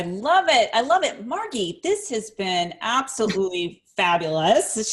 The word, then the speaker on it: Margie: And Margie, for Americans, it's spelled like Margie, but I pronounce it with a hard G.